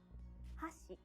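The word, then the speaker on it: 箸: it means chopsticks but if you say hashi it means bridge let's hear the difference again hashi chopsticks hashi bridge in japanese each syllable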